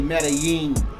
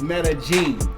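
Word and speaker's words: Medellín: i n and a lot of people say Metaline yes or Metaline yeah it's metag genene yes and metag genene and they really don't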